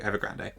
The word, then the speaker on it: Ever Grande: Ever Grand. Um so, we'll do that first. They say grand. Okay. Then, in that case, I am pronouncing it incorrectly, so I should probably train myself to not do that.